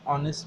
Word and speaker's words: honest: तो यहाँ पे ऑनेस्ट का हम ऑनेस्ट बोलते हैं, इसमें ओ साइलेंट में चला जाता है.